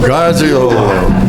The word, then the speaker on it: Garzio: Garzio. So it's 3 syllables, not 4. That's been my mistake, too.